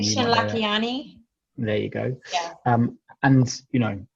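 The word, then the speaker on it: Lakhiani: I can't pronounce his second name. You Nishan might know that. Lakiani.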